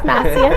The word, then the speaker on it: Mascia: Okay, today we are here with Mascia. Did I pronounce it correct? I'm sorry. It's okay. It's Mascia.